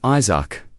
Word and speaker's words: Isaac: It's Isaac, not E- The pronunciation was close, but his human pride remained stubborn.